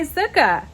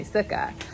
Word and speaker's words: sukkah: still sounds like klingon okay so that's my zuka this is my sukkah let's get back to sukkot so like i